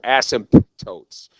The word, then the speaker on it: asymptotes: or cosine the asymptotes notices a P in there asymptotes when I took this in high school whatever I would never pronounce that P I'd say asymptotes and then I had to college and my professor mr. Pickering great teacher said okay we got some asymptotes and he would really hit the P the asymptotes